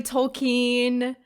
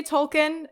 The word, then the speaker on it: Tolkien: the earlier episodes that i know it's like technically tolkien and that's the correct way to say it but i say tolkien and and that's what that's